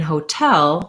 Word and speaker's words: hotel: more like a d but in hotel we do a true t because the stress is on the second syllable tell so i do say o for the ho syllable hotel with a clear vowel but it's going to be short and my length is going to be on the tail syllable so it just sounds